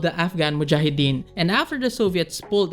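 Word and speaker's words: mujahideen: that funded the the muah why can't I pronounce it mujahidin right it was also Saudi and Pakistan a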